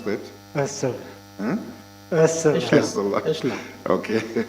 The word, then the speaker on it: Ursula: Oh, how do you pronounce that? Ursula.